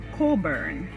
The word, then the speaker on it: Cockburn: It is spelled as Cockburn, but pronounced as Coburn.